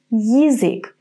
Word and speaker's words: язык: In the third word, язык, we're going to say Y and then I. Язык. The beginning sounds a little bit similar to the English word yield. Yield, язык.